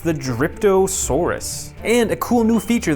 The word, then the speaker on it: Dryptosaurus: Here is, I believe it's pronounced the Dryptosaurus.